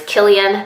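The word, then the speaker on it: Cillian: he's silly no it's not silly and it's Killian it's a hard see but I know it's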